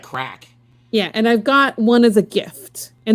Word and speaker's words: craic: Did you know that crack in Ireland, the word crack means fun? CRAIC, I think is how you say it.